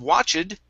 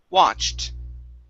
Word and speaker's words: watched: like this ed okay we are not going to pronounce the e sound so instead of watch it this is watched okay very nice okay